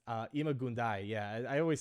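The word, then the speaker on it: Ima-Gun Di: I'm Imagundi. Yeah, I know. I always say it wrong. It's Imagundai.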